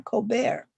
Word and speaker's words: Colbert: He had an anglicized last name, but he wanted to throw in a dash of flair by asking people to call him Colbert.